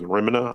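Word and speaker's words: Remmina: It's either the most popular or one of the most popular is remina I I think is how you pronounce it.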